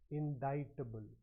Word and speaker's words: indictable: first up the pronunciation the C in this word is silent so you you pronounce it as indictable so I've heard a